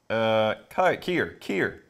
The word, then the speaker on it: Kier: Oh, they might have given a phonetic pronunciation on the bottle. I just saw a parentheses thing. Kier.